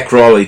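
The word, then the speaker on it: Crowley: Eu achava inclusive que era Crawley que se pronunciava. Mas não, enfim. Eh, é Crawley também. Crawley não tá errado.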